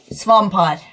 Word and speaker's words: Swampart: Swampart, how do you pronounce Swampart? Swampart.